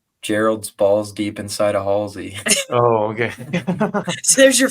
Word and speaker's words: Halsey: I think it's Halsey. Halsey. Halsey's how you say it.